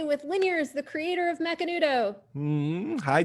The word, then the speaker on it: Macanudo: about macanudo hmm so mcnudo which to me is macanudo which is how i pronounced my whole life because i'm from argentina and it's a daily